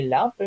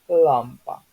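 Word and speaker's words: lampa: Этот вот л, он у нас идёт между л твёрдо и л мягко. То есть это не прямо ль и не прямо л. Это что такое вот меж, да? То есть получается это лампа, не лампа, не лямпа, именно лампа.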